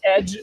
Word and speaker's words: Aidge: One of them is Eclipse Edge, AIDGE. So, I know. That's what happens when you ask engineers to name a project. Gosh, guys. Edge. So we pronounce it Edge, and so people get confused, but we get to explain.